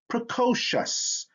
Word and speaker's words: precocious: or t i'm sorry c or t before the suffix i o u s sounds like chess so we have t